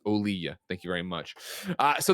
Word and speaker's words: Olija: says Devolver Digital, publisher of Olija, says it's pronounced Olija.